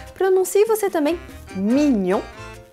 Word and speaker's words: mignon: que todo mundo acerta a pronúncia da palavra mignon não é ninguém Desligue no eu pelo menos nunca houve e essa é uma das regras de pronúncia do francês o GN tem som de NH dinheiro em francês por